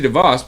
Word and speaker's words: DeVos: Then, my dad or mom, I don't know which one's on, Betsy DeVos, pronounced boss, has no prior experience in public education, and she's part of the swamp.